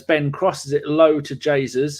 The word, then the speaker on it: Jesus: crosses it low to Jesus, who I now spell Jaysus, so I remember how to say it.